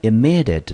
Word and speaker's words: immediate: immediately，好，这个字呢，各位如果注意看的话，它出现很多个母音，对不对？所以表示这个字的音节呢会比较多一点。来，第一个音节落在 i 的地方，我们念成短母音的 e。第二个呢是 mme，我们念成 me。接下来第三个是 di，我们念成 d。ate，注意哦，ate 这边它因为它是形容词，所以不念 ate。ate 在字尾，如果念成 aid 的话，通常都是当动词使用。那在这边呢，它是个形容词，所以这边的 ate 呢，我们念成 it。OK，重音节落在第二个音节，我们英文就念成 immediate。immediate，那 immediate 呢？它的词类呢是一个形容词，我们中文翻成立即的、即刻的。来，我们看英文解释：happening or done at once。happening 跟 done